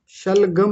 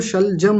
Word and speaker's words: शलजम: जल्दी शलगम शलगम नहीं वो शलजम होता है।